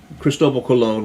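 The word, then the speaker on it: Cristóbal Colón: The Colon, Cristobal Colon was the Spanish pronunciation of his name.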